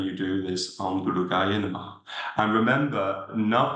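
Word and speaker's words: नमः: It's an exhalation which sounds like a Ha. Namah, namah.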